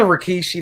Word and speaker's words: Rikishi: Yeah, it is a Rikishi.